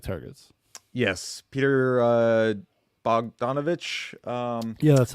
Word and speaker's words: Bogdanovich: but I do like targets yes Peter uh bogdanovich um yeah that's how you say it yeah